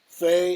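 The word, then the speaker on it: fae: or gender-fluid identity, and are pronounced with an F sound, replacing the TH sound in they, them. They are typically used in the third person. Faye is going to the park.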